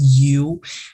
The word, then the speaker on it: Yow: So where does your last name Yow originate from? No one has ever asked me that actually. So it's a Chinese last name. In Mandarin, it's pronounced as Yu.